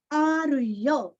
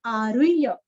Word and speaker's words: आरुह्य: आरुह्य, रूरस्व, जैसे बाह्य वैसे यहाँ पे आरुह्य, आरुह्य। ह आधा य पूरा, य।